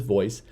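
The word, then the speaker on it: Voiss: one is called voice yes v-o-i-s-s it's we pronounce this voice we're developing we'll have a 140 different scenarios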